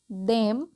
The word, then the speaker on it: them: देयर वॉज no surprise to see that all ऑफ देम, थेम नहीं देम पढ़ते हैं, lifted देयर, थेयर नहीं देयर, okay, hands.